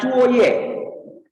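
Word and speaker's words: 作业: Dan yang H, bacaannya Cuoye.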